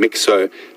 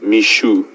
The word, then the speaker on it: Mixo: we were calling him mixo apparently our pronunciation is incorrect even though it is spelled mixo it is pronounced Mishu I can have a